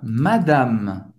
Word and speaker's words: madame: Senhora, madame, madame, bonjour, madame. Acaba no M. Você não vai pronunciar o E no final.